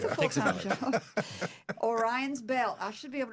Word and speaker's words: Orion: Orion. Oh, I said it wrong again. Sorry. Well, it's like Orion's belt.